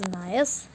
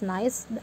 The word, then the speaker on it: gneiss: Now the next it is gneiss. Okay, the next it is gneiss. Okay, it is pronunciate it as nice, G silent here.